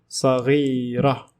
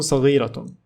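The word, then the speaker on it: صغيرة: Badratun saghira. Notice how I pronounced Taa Marbuta as ha because I stopped. If I continued in speech, I will say badratun saghiratun. Badratun meaning a seed.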